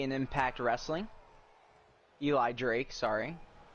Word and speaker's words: Eli Drake: take a quick drink La night was formerly Eli Dre in Impact Wrestling Eli Drake sorry mispronounced his name was a big star over